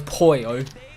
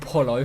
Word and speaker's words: Poyo: I hate that how you say it as Poyo, not Polo.